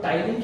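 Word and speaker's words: ptyalin: Like saliva के अंदर होता है सलाइडे एमाइलेज, जिसको हम टाइलिन भी बोलते हैं। क्या बोलते हैं? टाइलिन। स्पेलिंग पी से आ रही है बट नाम टाइलिन है, ठीक है, लगता सीधा है बट बहुत टेढ़ी चीज है।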